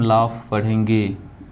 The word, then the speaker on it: laugh: दोस्तों यदि किसी शब्द के लास्ट में AUGH आता है तो इसका उच्चारण हम ऑफ पढ़ते हैं। इसका उच्चारण ऑफ होता है, जैसे LAUGH। ओके दोस्तों, इसे हम लाफ पढ़ेंगे। क्यों? क्योंकि लास्ट में AUGH आया है। ओके, तो यदि किसी शब्द के लास्ट में AUGH आता है इसका उच्चारण हम ऑफ पढ़ते हैं, इसलिए LAUGH लाफ हो जाएगा।